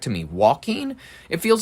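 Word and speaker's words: Joaquin: Walking Phoenix. I don't know why I always want to pronounce the J at the beginning of his his name because I don't know.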